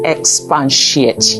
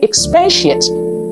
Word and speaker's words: expatiate: You'll be shocked to realize that there is no such word as expatiate. Where did we get the N from? We misspell it and we mispronounce it. There's no such word as expatiate. You should say expatiate. Expatiate. Let me ice your cake